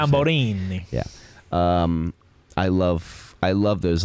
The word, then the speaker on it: Tamburini: Because I am a fan of MV Agusta, and my dream bike was always like the F4 Tamburini, or how you say it. Tamburini.